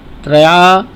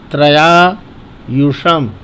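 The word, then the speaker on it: त्र्यायुषम्: ओम त्रया त्रया युषम त्रयायुषम तो बोलेंगे ओम त्रयान युषम त्रयायुषम तो यह ध्यान रखें त्रया ना बोले त्रया त्रया त्र को जल्दी बोले आधा त्र है इसलिए त्रयायुषम जम दगने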